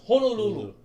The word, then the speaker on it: Honolulu: Honolulu, it's Honolulu.